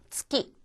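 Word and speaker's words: つき: 츠키. 츠. 츠키라고 하는 거. 이것은 달을 말합니다. 그래서 치키. 치키. 달 음으로 지금 쓰였는데 이때 즉라든가 즉 하는 식으로 발음하지 마시고 그냥 파열되는 대로 그대로 나누시면은 좀 더 자연스럽습니다.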